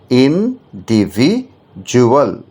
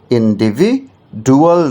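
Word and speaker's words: individual: option D ইন্ডিভিজুয়াল ইন ডিভিজুয়াল ইনডিভিজুয়াল ইনডিভিডুয়াল নয় ইনডিভিজুয়াল বানানটা আই এন ডি আইভি আই ইনডিভি ডি ইউ এল ইন্ডিভিজুয়াল ডি এর উচ্চারণটা কিন্তু dual হচ্ছে না ডি উচ্চারণটা জুয়াল হয়ে যাচ্ছে ইন্ডিভিজুয়াল ওকে ইন্ডিভিজুয়াল মানে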